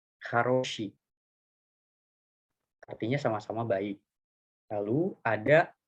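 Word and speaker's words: хороши: Lalu ini ada haroshi, sama kayak yang tadi, karena di sini huruf O-nya cuma satu, jadi huruf O yang di sini dibacanya seperti huruf A, haroshi.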